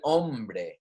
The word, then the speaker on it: hombre: it would be el hombre everyone repeat after me all the spanish i'm saying make sure you try and repeat after me a lombre the man remember that h is silent la mujer remember that